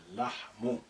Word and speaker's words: اللحم: So the first lam is silent. Say اللحم.